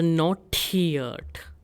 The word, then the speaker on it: notiert: Or, again in case of notiert, we have diphthong IE ending in E. So its pronunciation will be E. So notiert.